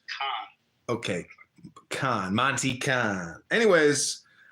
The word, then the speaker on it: Cannes: It's pronounced Cannes.